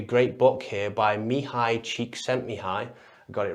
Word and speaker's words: Csikszentmihalyi: There's a great book here by Mihai Csikszentmihalyi. I got it right this time. If you've seen the other video, I couldn't say his name. His name's Mihai Csikszentmihalyi, and this book's called Flow, and it talks